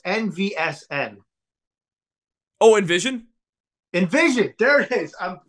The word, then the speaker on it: NVSN: I don't know how to pronounce their name, but it's NVSN. Oh, Envision?